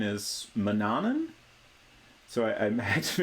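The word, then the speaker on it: Manannan: it seems like the most common agreed on pronunciation is Manan so I I had to make a note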